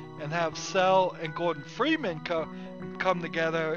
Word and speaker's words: Chell: Where does the story of Cell, or Chell if you want to call it Chell, C-H-E-L-L, I think it's supposed to be pronounced Cell.